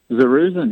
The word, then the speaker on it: Zerruzen: us now Matt, Matt, I'm maybe going to mispronounce this name. Is Zerruzen? Is that it? Zerruzen, yeah.